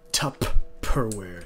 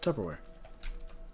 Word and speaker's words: Tupperware: middle part in there the middle part in there is never really super pronounced right it's kind of like tupperware you know it's kind of like it's very soft you don't you don't say tough per wear you know he's tupperware you know and so for